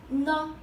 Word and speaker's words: 呢: Oh, one thing that n is toneless. So when you pronounce this, you just make it short.